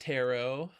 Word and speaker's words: tarot: It's pronounced tarot.